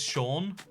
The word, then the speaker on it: Sean: But you can pronounce, like, one of the worst ones for this is Sean. It's like, how is that Sean? It's an E and an A.